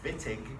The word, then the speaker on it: Wittig: And a Swern oxidation, we're going to start having lots of Germanic names with W sounds that are pronounced as V's. We're going to see one on Friday called the Wittig, spelled with a W.